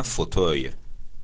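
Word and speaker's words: fauteuil: ها به مبل میگن فوتوی، F A U T E U I E L که ادش هم تلفظ میشه فوتوی، به فوتوی میگن مبل.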